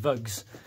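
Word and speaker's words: vugh: up there in it those are called views v-u-g-h or sometimes pronounced bugs basically little cavities within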